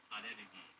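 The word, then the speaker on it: アレルギー: It sounds dumb, but allergy in Japanese is pronounced arerugi.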